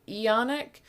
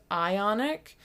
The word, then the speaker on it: ionic: both English and French Central Computer pronounces it eonic but the manual says ionic and I'm pretty sure it means ionic not eonic because I